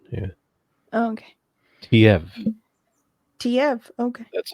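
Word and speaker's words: Teive: pronunciation. Yeah, Oh, okay. Tiev.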